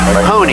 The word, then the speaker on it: Honey: Her name's Joyce Honey, H-O-N-E-Y. That's how she pronounced it.